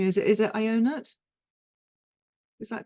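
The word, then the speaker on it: Ionuț: with pronunciation, is it Ionut? Is that correct? Yeah, it's almost correct. It's just like John in English, but it's in Romanian. It's Ionut. Ionut. Yeah. Thank you. Ionut.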